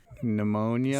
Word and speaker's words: pneumonia: yep are also ones pneumonia psychology psychotic yep psilocybin keeping it with the drug theme SD these P's also used to be pronounced still are in French and we got it from French originally psychology yeah right and